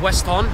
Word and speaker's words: Weston: Would have been pronounced Weston, which means place to the west.